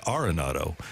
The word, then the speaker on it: Arenado: Nolan Arenado I said how do you pronounce your name because I remember you've been Arenado for his entire career and he said I don't think anybody's ever asked that it's arronado and so you just